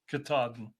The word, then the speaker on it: Katahdin: top of, and Barry told me how to pronounce this, to the Mount Katahdin. Katahdin.